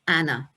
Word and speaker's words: Anne: And her name was soon shortened to what we would say Anne, but they would pronounce it in the continental way of Anna.